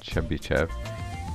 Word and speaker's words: Chebyshev: This is called chbbyev pronounced chbbyev.